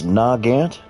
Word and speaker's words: Nagant: Nugant. Carbby. Aras are the same ones they used against the US MC in the Pacific theater. Ngant. Yes. Nagant.